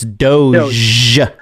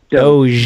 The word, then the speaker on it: Doge: Well, first of all, you're not even pronouncing the coin correctly. It's Doge. Dogecoin. Doge. Doge. Okay.